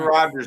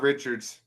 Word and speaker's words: Rodgers: Aaron Rodgers, not Richards.